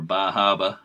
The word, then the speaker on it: Bar Harbor: bar harbor with uh bar harbor whale watch or baja as some people pronounce it but uh it's